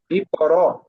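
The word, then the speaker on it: اقرأ: বাতাস একবারে হামজার উচ্চারণ করার সময় একবারে মানে বাতাসটা একেবারে বন্ধ করে দিব, ঠিক আছে। জি জি। ইকর, ইকরা, ইকরা, হ্যাঁ, ইকরা, আর একটু শক্ত করে ইকরা, বলেন, হয়ে যাবে ইনশাল্লাহ।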